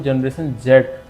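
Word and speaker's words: Generation Z: ये अमेरिकन और जो यूके इंग्लिश है उसका प्रोनाउंसिएशन की वजह से अमेरिकन इंग्लिश में जेड को जी बोला जाता है, इसलिए इसको हम लोग जनरेशन जी के नाम से ही जानते हैं।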